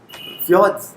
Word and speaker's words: fjords: Fjords. Absolutely right. Very Fjords. nice. Very Fjords. nice. Fjords. Fjords. So J is pronounced as ya.